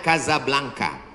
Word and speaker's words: Casablanca: kuliah nama negaranya Maroko ibukotanya tulisannya Casablanca cara bacanya Kadzab langka Kaza artinya rumah Blanca